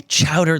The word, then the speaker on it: chowder: Well, when you say chowder like that, the emphasis on the chow, like I don't. That's how it's said.